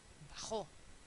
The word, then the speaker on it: bajó: estrés habito y hbito lo mismo con bajo bajó bebe bebé inglés inglés sí mucho cuidado con